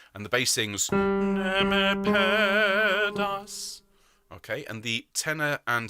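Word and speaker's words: ne me perdas: So first of all, neme pedas. If you can roll your R's, that'd be lovely.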